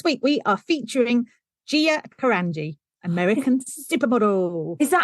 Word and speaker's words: Carangi: So this week we are featuring Gia Carangi, American supermodel. Is that how you say the surname? Carangi? Carangi.